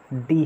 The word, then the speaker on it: the: Vowel हो चाहे sound, अब दोस्तों वॉवेल साउंड है तो दी आप प्रोनाउंस करोगे ही ना, लेकिन अगर साउंड कॉन्सोनेंट है तब आप द प्रोनाउंस करते हो। लेकिन अगर आपको नाउन को एम्फेसाइज करना है, इस केस में आप चाहे कॉन्सोनेंट साउंड हो आप डी ही प्रोनाउंस करेंगे।